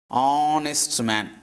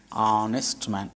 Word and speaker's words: honest: Here starting letter is H, but it is not pronounced. H is here silent. It is pronounced from here. Honest man. Honest man.